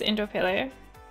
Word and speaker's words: Indooroopilly: Indooroopilly. Is that how you pronounce it? It's that place that's near Brookfield and Kenmore. It is Indooroopilly.